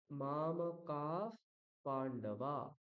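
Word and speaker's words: মামকাঃ পাণ্ডবাঃ: করোতি ঠিক ঠিক একইভাবে যখন বিসর্গের পরে বকার বা ফার থাকবে সেই বিসর্গটাকে আমরা কি করব ফ উচ্চারণ করবো এই যে বিসর্গটি ফ উচ্চারিত হবে তাহলে উচ্চারণ কি হবে মামাকা পান্ডবা মামা কাফ পান্ডবা ঠিক আছে হুম সুস্মিতা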